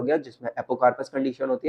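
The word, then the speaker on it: apocarpous: अगर ये फ्री है तो इसको बोलते हैं हम, इस कंडीशन को बोलते हैं हम एपोकार्पस। एपोकार्पस। और अगर ये हमारे पास फ्यूज्ड है तो सिनकार्पस। दोबारा प्रोनाउंस करना मेरे साथ, दो टर्म्स है, एपोकार्पस, सिनकार्पस।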